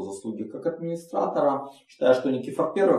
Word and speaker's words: Никифор: Кстати говоря, по-гречески, по-моему, Никифор. С вот таким ударением. Ну, мы привыкли говорить Никифор.